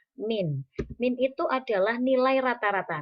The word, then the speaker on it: mean: yang dimaksud dengan min tulisannya mean tetapi membacanya adalah min min itu adalah nilai